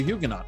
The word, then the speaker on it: Huguenot: It turns out, by the way, that John Jay's great-grandfather was a Huguenot or Huguenot, depending on how you want to pronounce it.